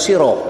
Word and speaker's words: sirah: Kajian surah Al-Ahzab ayat 45-46 menelusuri makna, dituliskan sirah nih, dibacanya siroh, ya.